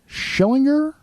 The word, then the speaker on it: Schillinger: Vern Schillinger?